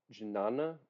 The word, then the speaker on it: jnana: Even Um, though he says so that the jnana, I don't know if I'm pronouncing that right, but the jnana no yoga, J. No, yeah, it's no J. is no J. You don't pronounce the J.